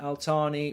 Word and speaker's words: Al-Thani: They pronounce their name Al-Thani with a th.